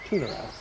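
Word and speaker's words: Tu'narath: I believe it's called Tunarath. So, T-U apostrophe N-A-R-A-T-H. Tunarath.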